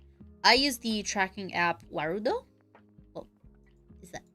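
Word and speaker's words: Warudo: use the tracking app wudo is that I think that's how you pronounce it yeah vudo w a r u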